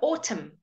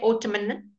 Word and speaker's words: autumn: say the N okay when it comes at the end of a word we don't say the N so autumn we don't say Ottoman who knows why we